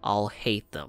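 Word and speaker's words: Alhaitham: What are you playing at, trying to ruin our business like this, Okay, so his name is pronounced I'll hate them.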